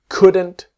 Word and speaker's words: couldn't: We couldn't go tomorrow. The T is silent, so it becomes we couldn't go.